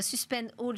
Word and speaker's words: Suspend All: Suspend All, je le prononce bien, c'est on suspend tout, c'est exactement.